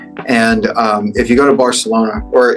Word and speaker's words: Barcelona: And if you go to Barcelona, or if you want to say it correctly, Barcelona, if you go to Barcelona, the Catalans, they're very much their own thing.